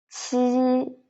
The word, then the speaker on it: 七: And then the last line, 鸡, 七, 西 again 鸡 qi the air coming out and 西 together 鸡